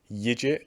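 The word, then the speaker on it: Yigit: round stoppage over uh anthony yidget or yiggit i believe his name is pronounced and yeah he's a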